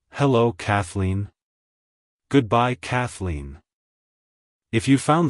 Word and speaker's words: Kathleen: it's pronounced as Kathleen Kathleen Kathleen to pronounce it correctly emphasize the first syllable Cath and the second syllable Lean Like hello Kathleen goodbye Kathleen if you